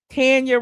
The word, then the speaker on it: Tanya: This is the picture I showed y'all, and I said she looked just like Tanya. Tanya rhymes with panda.